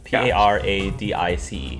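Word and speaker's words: Paradice: di c e okay oh so emphasis on the ice then yes PA ra di see paradise and of the hive mmm to the left what do you do Paradise sounds fun yeah I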